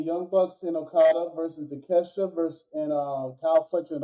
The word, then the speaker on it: Takeshita: I guess I don't know when is he gonna fight Takeshita or Takashita. I'm trying to think how to say this. Keep forget how to say his name. Takashita. It's Takeshita.